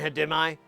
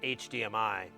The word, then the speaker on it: HDMI: bitty as semi Bida Simi that's how I pronounce it and hadimai wasn't until about six weeks ago I found out it was pronounced HDMI forever I just called it hidemi yes well the Rampage is very similar to